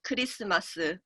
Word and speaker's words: Keu-ri-seu-ma-seu: It's written in a way that like Koreans pronounce Christmas, which would be like Keu-ri-seu-ma-seu.